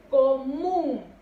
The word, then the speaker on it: común: Común.